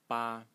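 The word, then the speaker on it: 八: here which today is written like so it's pronounced ba ba and it today it means eight like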